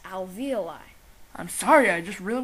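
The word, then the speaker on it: alveoli: are tiny sacks called avioli the avioli are surrounded by capillaries or tiny veins which diffuse oxygen into the blood actually Matt it's pronounced Alvi I'm sorry I just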